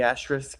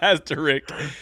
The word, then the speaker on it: asterisk: of the asteris Asis do you pronounce the s in the asterisk I think most pronounced